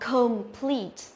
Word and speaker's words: complete: Đấy, thì phương án A này chúng ta đọc complete, com, âm O mà, complete.